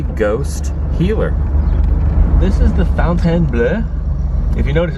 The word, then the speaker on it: Fontainebleau: This is the Fontainebleau. If you notice, it's not the Fountain Blue. B-L-E-A-U.